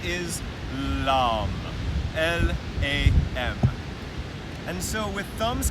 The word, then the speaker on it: LAM: When we talk about using mantra, or sound vibration, to recognize that earth element, the sound is LAM, L-A-M.